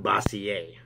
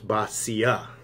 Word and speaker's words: Boccia: First and foremost, let's get my name correct. You're pronouncing it completely wrong. So let's get this part out of the way. It's not Boccia, okay? It's Boccia, okay? Don't know where you're getting the French thing from, but you're completely off base with that.